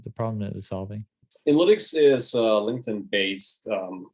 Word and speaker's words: Inlytics: all right i'm here with tim from analytics i pronounced that correctly yeah absolutely that's perfect we